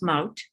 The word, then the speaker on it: Maud: Your name in Dutch, well, in English you pronounce my name Maud, but in Dutch it's pronounced Maud.